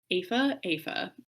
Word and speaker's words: Aoife: And I think that that was sort of foreshadowed with Aoife.